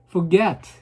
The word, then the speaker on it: forget: forget 이렇게 뒤에다 제가 발음을 세게 하죠.